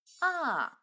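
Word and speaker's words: А: the Russian alphabet is aa aa is always pronounced in the same way as ah another important power is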